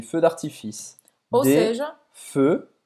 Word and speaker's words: feux: feux, não vai pronunciar esse x, des feux d'artifice.